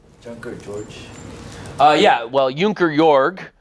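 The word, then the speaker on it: Junker Jörg: George uh yeah well junker yor uh junker George would be of course the English way to pronounce it um it means Squire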